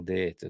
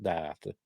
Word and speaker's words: Data: But that's how they pronounce it as well, Data, not Data.